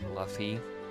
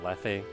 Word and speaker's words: Lethe: Yeah, I think you do pronounce the E. Yeah, I think maybe it's just a weird quirk of Greek where you pronounce the vowels, I guess, even though some things would be silent. It's like Lethe or something.